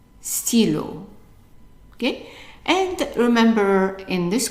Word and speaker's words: stylo: The Y is pronounced like an E sound. So stylo, stylo.